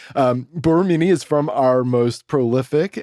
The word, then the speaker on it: Borromini: And Borromini. It's Borromini. But he said don't accentuate it too much, otherwise it sounds like you're poking fun at the language.